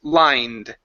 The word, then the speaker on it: lined: So, instead of lined, the e is silent. Okay, the word is lined.